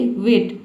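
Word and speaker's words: weight: तो ये बात आपको याद रखना है कि जी एच टी एक साथ आ जाता है। तो इसमें हम जी एच को साइलेंट रखते हैं। टी को पढ़ते हैं। तो टी का ट हो जाएगा। जी एच साइलेंट हो गया।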